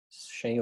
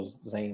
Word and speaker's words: Xen: Xen ou Zen, né, depende de qual forma nós queremos pronunciar.